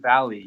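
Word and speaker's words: Vale: uh called Vail well at least I thought it was called Veo and then I'll tell you about it and he's like Oh you mean Valley you know that's how you pronounce it and so long story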